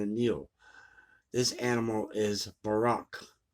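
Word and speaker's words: Buraq: This animal is Barak. It's spelled B-U-R-A-Q or B-O-R-A-K. So I'm going with the Borak, whose name means the shining or resplendent one.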